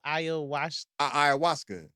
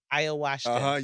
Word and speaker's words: ayahuasca: Ayahuasca. Ayahuasca.